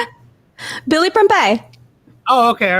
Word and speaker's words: Prempeh: Billy Prempeh.